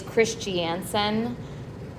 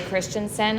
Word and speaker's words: Christiansen: It's Christiansen. If you say Christensen, I'm not going to be offended, but that is how you pronounce it.